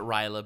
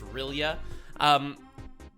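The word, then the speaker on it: R'lyeh: Or, I always pronounce it Ryla, but he's probably right. The only words being repeated again are Cthulhu and Rilya. So I always pronounce that as Ryla, but he's totally right. It's Rilya.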